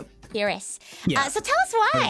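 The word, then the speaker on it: Firis: you'll have to forgive me, I might incorrectly pronounce these Atellier Shelly Charalie Atelier Sophie and Atellier Fiser. Yep. Ferris.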